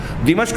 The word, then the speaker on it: دمشق: میں، شام کا دارالحکومت جس کو ہمارے یہاں لوگ دمشق کہتے ہیں، صحیح تلفظ ہے دمشق میں نزول ہوگا۔ بین محروزتین اور